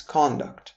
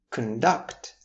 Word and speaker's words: conduct: impressed with the students conduct during the field trip. If you shift that stress to the second syllable of the word duct, making it conduct, then you would have